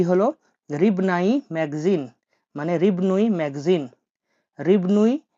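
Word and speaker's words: рыбный: রিবনুই, রিবনুই magazine, M এ জি এ জেড আই এন, জেড আই এন, তাহলে কি হলো? রিবনাই magazine মানে রিবনুই ম্যাগাজিন, রিবনুই ম্যাগাজিন মানে হলো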